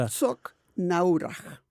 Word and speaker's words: Herzogenaurach: Ah, Adidas, ya, va a decir cómo se se pronuncia dice realmente esa ciudad. Herzogenaurach.